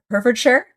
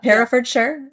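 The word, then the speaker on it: Herefordshire: Essie Fox was born and raised and you might have to help me with the pronunciation of Herfordshire. Herford. Did I say it right? Yeah. Heraffordshire.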